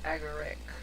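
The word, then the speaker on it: Agaric: It just dawned on me that I was pronouncing that wrong. It's aguric. Bacon aguric.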